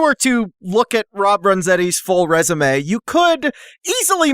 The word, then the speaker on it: Renzetti: It's Renzetti, yeah, pronunciation wise. oh yeah, Renzetti, yeah, Renzetti, yes. Renzabi? No, you're right. Italian name. No, not Renzabi. That's a very special pronunciation of my name. Yeah. Normally I go by Renzetti.